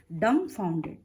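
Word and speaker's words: dumbfounded: डम फाउंडेड मतलब कि वो हक्का बक्का होकर, यहाँ डम फाउंडेड मतलब DUMB, बी यहाँ पर साइलेंट है। आपको कैसे उसको उच्चारण करना है? डम फाउंडेड, बी हाँ, डम ब नहीं कहना है, डम फाउंडेड, हक्का बक्का हो जाना।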